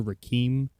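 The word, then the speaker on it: Requiem: In case you couldn't understand my dear friend Press Buttons, who does not know how to pronounce things, it's Aliens versus Predator Rake.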